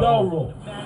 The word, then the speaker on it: Thuro: Thorough. Yep. Man, I've been having problems pronouncing it.